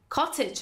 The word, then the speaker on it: cottage: توی بریتیش کاتج قشنگ تر رو تلفظ میکنه، اما توی امریکن میتونیم تی رو به صورت محو، به صورت فلاپ تلفظ کنیم، بگیم cottage house. So cottage house or cottage house.